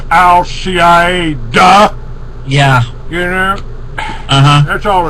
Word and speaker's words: al-Qaeda: you keep hearing about al-qaeda that's I'm sorry I should pronounce it properly it's al cie duh yeah yeah uh-huh that's